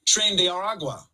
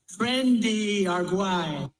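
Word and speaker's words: Tren de Aragua: of the Venezuelan gang trend de Aragua or as Trump pronounces it trendy aru shouts to Venezuela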